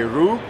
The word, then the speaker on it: Ryu: to go with Ryu oh there's multiple ways but I think the Japanese say rule okay I think a better question is how don't you pronounce Ryu but it's not Ryu do not murder the character's name by saying Ryu and Ryu is basically